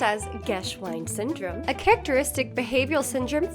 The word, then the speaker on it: Geschwind: Geschwind syndrome, pronounced as Geschwind syndrome, a characteristic behavioral syndrome frequently described in patients affected by temporal lobe epilepsy.